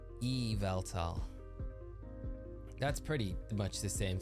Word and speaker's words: Yveltal: That's how you pronounce it officially. It's Yveltal.